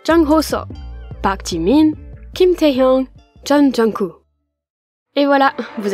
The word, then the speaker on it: Taehyung: Kim Taehyung. On retrouve une nouvelle fois notre ami Kim. Quant à son prénom, il comporte les lettres T et E, puis la syllabe Hyung, ce qui donne Taehyung.